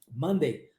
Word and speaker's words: Monday: Monday.